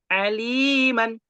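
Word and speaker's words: عليما: harakat bila dibaca wakaf tulisannya Aliman maka dibacanya alima perhatikan alima panjang Li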